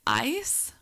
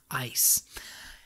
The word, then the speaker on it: Ais: gonna say her name i've been saying it ice a-i-s ice she is a kind